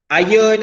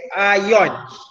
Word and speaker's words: ion: So ion. Okay, ion. Dia bukan iron.